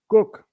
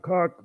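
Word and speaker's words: Kok: in the Netherlands under Cook. Yeah, really, we had a prime minister, named after genitalia, cock, Cook, K-O-K, right? Not cock, but Cook, but you pronounce it as cock.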